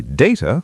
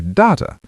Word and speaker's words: data: You can say data or data. Both are correct, but data is more common in professional settings.